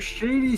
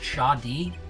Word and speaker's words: Shadi: about this victim Mr Shady Smith it's actually pronounced Shadi like a melody in my head anyway and his occupation